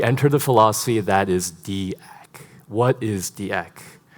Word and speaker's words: acc: He's the one who pronounces it acc, so we're going with that.